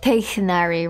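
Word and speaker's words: Tighnari: We're supposed to emphasize the ich. Oh, like Teichnari, right?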